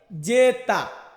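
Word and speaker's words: zeta: জেড, জেডকে Italian ভাষাতে বলা হয় জেতা, জেতা মানে হচ্ছে জেড।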